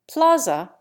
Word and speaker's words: plaza: Plaza has 2 flat A's.